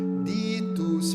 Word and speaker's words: digitus: palavra digitus paterne dextere, mas na palavra digitus, a sílaba di, ela está em itálico, quer dizer, ela não deve ser cantada. A gente vai cantar então, por exemplo, tu septiformis monere, ditus paterne dextere, torite promissum patris, sermone ditanes scutura.